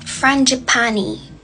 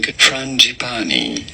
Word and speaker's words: frangipani: It is called a white frangipani. I'm so sorry if that is not the correct pronunciation of it.